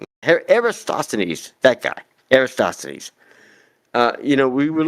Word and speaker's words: Eratosthenes: Eratosthenes. Eratosthenes, that guy, Eratosthenes.